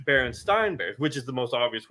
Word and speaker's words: Berenstain Bears: Most people growing up in my age group remember Berenstein Bears. Teachers even pronounced it Berenstein Bears. But yet we're now being told it's Berenstain Bears, which is the most obvious one of them all.